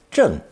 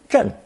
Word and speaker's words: 镇: Pronounced fourth tone, 真, 真.